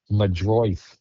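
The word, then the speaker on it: Meidroth: Madroith.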